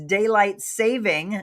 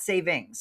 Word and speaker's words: daylight saving: So, it is daylight saving, not savings. It's daylight saving time. That is the correct official term, not savings.